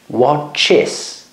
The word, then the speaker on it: watches: Pridávam koncovku s Watch watches watch watches ešte raz hovorím e a s na konci sa vyslovuje ako is Watch watches Pass passes